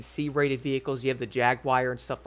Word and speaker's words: Jaguar: You have the Jaguar and stuff like that or Jaguar.